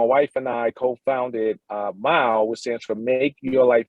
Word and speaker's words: MYLE: entertaining so it's m-y-l-e it's pronounced just like when you drive a mile but it's spelled with the y instead of an i because it's really all about you and mile is a social activity